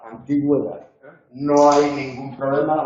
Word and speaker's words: antigüedad: Aquí la diéresis no marca un hiato, aquí la diéresis lo que nos indica es que tenemos que pronunciar esa vocal, pero la pronunciamos como una semiconsonante, no es tónica. La vocal tónica en esta palabra es la antigüedad.